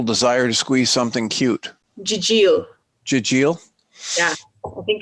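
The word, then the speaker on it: gigil: And how do you pronounce the one that is the irresistible desire to squeeze something cute? Jijil.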